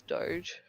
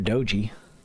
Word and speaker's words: Doge: But the general consensus was Doge. That's Yep. what I always said. Doge or Doji. One of the two.